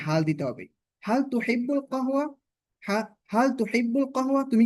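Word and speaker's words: قهوة: তো এই কাহওয়া, এটাকে আঞ্চলিক আরবিতে গাহওয়া বলা হয়, গাহওয়া, কারণ আমরা জানি কফ, কফটাকে আঞ্চলিক আরবিতে গয়নের মতো উচ্চারণ করে, গা, গাহওয়া।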